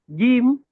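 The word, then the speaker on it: ج: The correct pronunciation for the letter gim is usually missed and we pronounce it like gimm gim. It's not It's not the English letter J. Okay. It's the English letter G. Like when we say Google, okay, Google, right?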